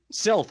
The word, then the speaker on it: Silth: surrounded by Beauty yeah silth rhymes with filth which is pretty much her disposition so she basically tells